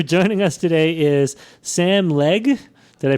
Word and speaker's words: Legge: Uh, our joining us today is Sam Leg. Did I pronounce it right?